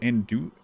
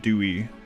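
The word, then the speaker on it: andouille: And Dewey and Dewey. Yeah. No L. No L pronunciation.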